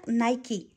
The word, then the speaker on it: Nike: Es un Nike, no, ¿cómo se pronuncia? Nike.